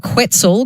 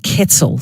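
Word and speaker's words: quetzal: one the Guatemala and I was calling it quel cuz that's how it's spelled qu t z a l EV has texted in to let me know it is pronounced Kettle the Guatemalan ketzel so thank you for that and keep your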